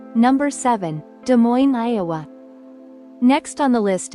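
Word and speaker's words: Des Moines: the mistake of saying de Mo s but there's a trick to this one the S is silent the proper way to say it is D Mo just two simple syllables D Mo it sounds cleaner and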